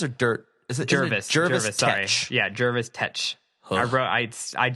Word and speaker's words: Jervis: Jervis, sorry. Yeah, Jervis Tech. I spelt it phonetically.